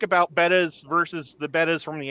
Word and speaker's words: betta: Is the betta fish. Or beta, however you want to say it. How do you guys pronounce it?